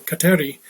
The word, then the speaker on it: Kateri: accepted the name catherine or as she pronounced it in her mohawk tongue kateri and while she at